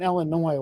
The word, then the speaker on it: Illinois: can't grow up in illinois where where i live so oh really so yeah that's we're not everyone in illinois is a redneck skeptic is that wrong don't forget don't pronounce the ass uh in illinois the